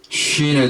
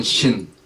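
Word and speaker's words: שין: 이번 시간에는 히브리어 알파벳 21번째 순서인 쉰에 대해서 공부해 보도록 하겠습니다. 순서상 21번째이고 숫자 값은 300이 되겠습니다. 한번 따라해 보십시다. 앞에 보이는 글자가 쉰 혹은 신 두 가지로 발음이 나는데 같은 글자입니다.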